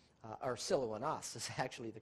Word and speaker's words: Silvanus: Paul and Silvanus, as we would pronounce it, Silvanus, not the correct pronunciation, but it's actually Silouanus, or Silouanas is actually the correct